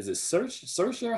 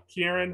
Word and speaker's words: Ciarán: I think is it Saoirse Hinds? I always mispronounce his name. Troy Kotsur. Huh? Ciarán Hinds.